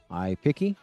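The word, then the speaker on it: iPiqqy: So it's spelled I-P-I-Q-Q-Y. I like to say G. Eric Suring says, mind your G's and Q's. iPiggy?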